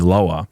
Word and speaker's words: Lwa: They call this the Loa, LWA, but it's pronounced like LOA, Loa.